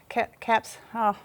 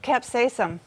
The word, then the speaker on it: capsaicin: They have something called capsicum. That's how you say it. It's the spice. Capsaicin. That's what capsaicin. No, capsaicin. Capsaicin. I just know it's the spicy stuff on there.